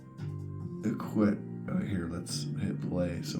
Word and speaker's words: الكويت: All right, officially the state of Kuwait. It's pronounced Iqwit.